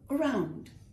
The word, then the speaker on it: around: In fact, you've got to forget about that A quite a bit. So it'll be more of around. The emphasis is on round, not on the A.